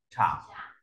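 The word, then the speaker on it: 厂: Tiếp theo ta có bộ xưởng nó về công xưởng ngang xong rồi phẩy một cái đọc là chẳng.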